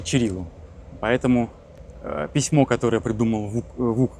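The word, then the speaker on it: Ћирилу: А это у нас памятник Кириллу и Мефодию. По-сербски Чирилу.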